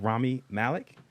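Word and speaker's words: Rami Malek: Busters M heart starring um how do you pronounce his name Ramy Malik yes uh of Mr Robot Fame uh uh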